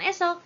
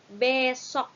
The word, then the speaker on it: besok: Yang ketiga, esok. Harusnya bukan esok, tetapi besok.